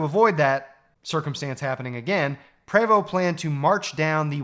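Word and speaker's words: Prevost: led by Sir George Po. It's spelled P re, but I read that it was pronounced PO anyway.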